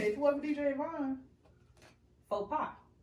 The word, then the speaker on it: faux pas: Faux pies. Okay. Faux pies? No, faux pas. Yeah, DJ said it right.